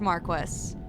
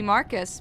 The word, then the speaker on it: marquis: I've heard it pronounced Marquis. I know it looks like it should be Marcus, but I' I've definitely heard English people say it Marquis.